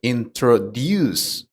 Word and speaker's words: introduce: For example, the word introduce is pronounced with a stress at the end, so it sounds like introduce.